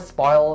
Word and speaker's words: spoil: So the word spoil has only one syllable, but you have to make sure that you enunciate very clearly the ol sound at the end of this word. So spoil and then ol. Spoil, ol. Spoil, spoil.